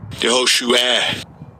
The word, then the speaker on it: Yehoshua: Yehoshua. Yehoshua. See? And second entry. Yehoshua.